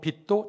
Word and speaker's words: 빚: 피차 사랑의 빚 외에는 아무에게든지 아무 빚도 지지 말라.